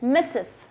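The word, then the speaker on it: Mrs.: है mister is एमआर मिसेस is mistress pronounced as मिसेस mistress जो होती है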